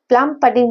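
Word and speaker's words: plum pudding: प्लम पडिंग model भी, इस वाले मॉडल को प्लम पडिंग या प्लम पुडिंग भी बोलते हैं, पडिंग भी बोलते हैं, वो डिपेंड करता है कि आप कैसा प्रोनाउंसिएशन बोले, प्लम पडिंग मॉडल या प्लम पुडिंग मॉडल।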